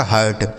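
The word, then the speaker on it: hurt: ये लिखा गया आपका हर्ट क्या लिखा गया मेरे भाई हर्ट लिखा गया ठीक है तो अगर किसी भी शब्द में आई के साथ आर होगा तो उसका उच्चारण हमें आ करना है जैसे bird firm chirp, शर्ट, dirt, हर्ट।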